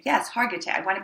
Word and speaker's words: Hargitay: Mariska had, I can never pronounce it correctly. It's Hargitay? Hargitay. Yes, Hargitay.